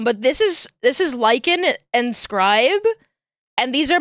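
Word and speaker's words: Lichen: This guy is also This is Lykan. This is and spelled L I C H E N. like the moss and then scribe spelled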